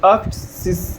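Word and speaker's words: achtzig: जिवसिस जिव्स ठीक है 80 को बोलते हैं अक्टिस अक्टिस अक्ट 80 में एट को अक्ट और जीरो को जीिस यहां बोलते हैं सिसिस सिस ठीक है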